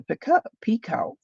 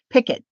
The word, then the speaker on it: picot: and then there's the picot. Now, I've always said picot. I watched a young gal, and she was saying picket. And I thought, "Picket?